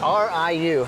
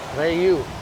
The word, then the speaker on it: RIU: Riu. Yeah, Riu. Riu? I don't know why. I feel like it should be Riu, but Ray, I guess the I is pronounced E.